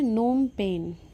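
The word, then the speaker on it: Phnom Penh: Cambodia की capital है नोमपेन। नोम पेन। इसमें पी साइलेंट रहता है इंग्लिश में।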